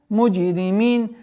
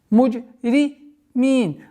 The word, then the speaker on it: مجرمين: Муджримин. Нужно обращать внимание, чтобы джим не перешло в ж. Муджримин. Нет. Ясное, четкое произношение со свойством взрывность.